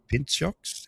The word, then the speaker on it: Pintxos: p i n t x o s Pintxos? How do you pronounce that?